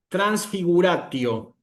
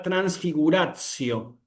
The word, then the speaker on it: transfiguratio: también, nosotros decimos que esto no se pronuncia como una t fuerte, como nosotros decimos tanque o tierra, nosotros vamos a decir acá transfiguracio, ¿me explico?